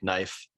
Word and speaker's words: knife: that are silent like knife the k is silent you know yeah yeah